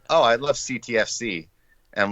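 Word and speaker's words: CTFxC: So I always say X is silent. So when I meet some people and they don't really know what's going on, they're like, oh, I love CTFC.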